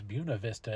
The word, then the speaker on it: Buena Vista: the Buena Vista is what it's written as Buena Vista is what it's pronounced as if you get a chance to